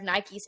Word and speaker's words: Nike: in the 80s and bought a pair of Nikes and she didn't even know it's pronounced Nike she was calling them Nikes Nike like Nike made